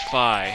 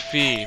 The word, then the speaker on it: Fi: if you will yeah her name is Phi it's not pronounced fee look it up okay